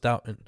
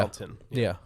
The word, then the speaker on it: Downton: It's written downtown, but it's pronounced Downton, right? Yeah. Downton.